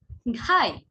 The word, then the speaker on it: ঘাই: একইভাবে গাই, ঘাই। গাই হচ্ছে গ অল্পপ্রাণ, ঘাই আবার ঘ মহাপ্রাণ।